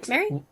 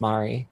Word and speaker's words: Mari: thank you uh mary what exactly does this do oh it's pronounced mari mari i'm so sorry that's